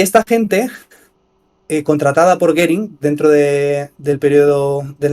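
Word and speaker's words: Göring: estos hermanos Fueron contratados por gering goering se escribe goering era el número tres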